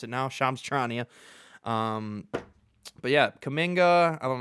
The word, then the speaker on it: Shams Charania: I know how to pronounce it now, Shams Charania.